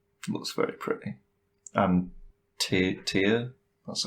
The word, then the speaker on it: Tyr: And Tyr, that's how you say his name, right?